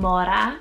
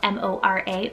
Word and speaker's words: Mora: name here on the list is the name mora spelled m-o-r-a or mora it means blackberry then we have